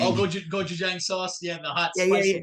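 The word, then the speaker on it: gochujang: uh it's it's Korean I always say it wrong man it's like I call it Goji Jang oh GOI Goji Jang so yeah the hot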